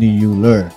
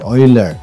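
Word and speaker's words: Euler: At uh ito ay uh binigyan ng solusyon ni uh Oiler ni Uer ni Oiler. So 'yan 'yung pag gann 'yung pronounce natin.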